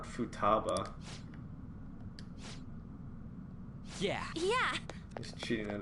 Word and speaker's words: Futaba: you're useless and they got me saying it wrong Futaba not Futaba yeah yeah he's cheating